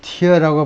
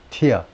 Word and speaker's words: tear: 이거 tear라고 발음을 하면 눈물이 되고 tear 하면 찢다예요. up 동사 다음에 up 동사 부사 up이 나오면 항상 up은 완전이라는 말입니다.